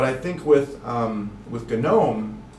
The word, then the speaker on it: GNOME: ubuntu desktop which is called gnome and yeah you pronounce the g because whatever um which